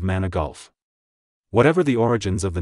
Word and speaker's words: Manigault: high school teacher who constantly mispronounced his name as mana goat instead of its correct pronunciation of mana golf whatever the origins of